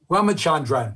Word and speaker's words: Ramachandran: he's pronounced your name tell me again ramachandra ramachandran that's marty before we